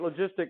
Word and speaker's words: logistic: growth we don't abbreviate logistic log right because we read that as log this is the soft g sound right logistic logistic growth